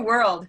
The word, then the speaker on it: world: it changes a lot it's not just one syllable anymore it's kind of more than one syllable that's the first thing